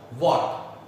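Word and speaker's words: what: व्हाट, व्हाट इसका pronunciation ऐसे करना चाहिए जैसे किलोवाट, व्हाट। क्या, हु कौन, किसने, किसे।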